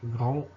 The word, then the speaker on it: grand: Grand, etc. On a D à la fin qui ne se prononce pas.